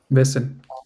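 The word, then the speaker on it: Wessen: It sounds like sen, but the beginning is different. Vessel. Wesen.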